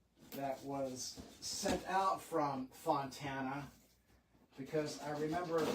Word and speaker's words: Fontana: I checked the return address and this guitar came from Fontaine. Is that how you pronounce it? Fontaine, California. Fontana, California.